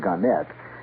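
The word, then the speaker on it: Gannett: Ganet or Garnet. They prefer to pronounce it Ganette.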